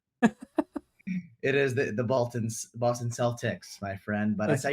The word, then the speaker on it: Celtics: we're gonna go with kel we're gonna go with celtics i i had to correct myself it is the boltons boston celtics my friend but i